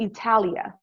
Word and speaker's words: Italia: says we're moving to italia and it has the correct pronunciation for students because that's how the italians say italy the army needs us